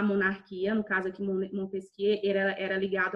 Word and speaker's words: Montesquieu: Montesquieu se escreve Montesquieu, tá? Ele era francês, se escreve Montesquieu, mas se pronuncia Montesquieu.